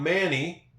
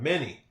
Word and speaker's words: many: It's not manny. Kind of changes it to it. It changes that a to an e sound. Many. This y makes the e sound at the end of this word.